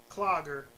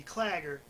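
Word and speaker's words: Claggor: on Act 1 that I mispronounced Clogger. It's supposed to be Clagger, but this is my reasoning and my message to all of you.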